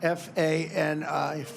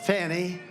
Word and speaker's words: Fani: You had Fani, F-A-N-I, which is usually pronounced Fanny, but she added a little action to it, Fani.